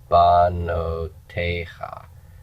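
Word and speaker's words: בנותיך: Banotecha. The accent is here. Banotecha. So this is tonic. The no is pretonic. The ba is propertonic. And open propertonic syllables reduce to vocal shava.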